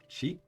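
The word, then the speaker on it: ち: The first exception is Chi, which starts with a C instead of T and adds a soft H sound.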